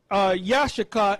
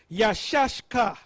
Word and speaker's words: Issachar: he is hired now the way Turpin pronounced it is not Yashica is yashka yeah shashka okay yes